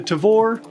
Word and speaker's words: Tavor: With the UK moving on and Israel looking to replace the Tavor. Nailed that pronunciation.